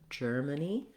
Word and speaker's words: Germany: The stress is on the first syllable, so our sound is going to be nice and tight, and that's our longest vowel. Germany. Letter A is going to say a schwa here, so it's not like the word man, even though it's spelled the same as man. It's going to sound like Germany.